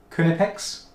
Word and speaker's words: Knipex: written down as in the phonetic would be K uh H n I p x kunipex kipex kunipex.